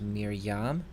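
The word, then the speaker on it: מִרְיָם: f rahim f ryu here we have another silent schwa so it doesn't make any sound this word is pronounced Miriam Miriam Miriam is the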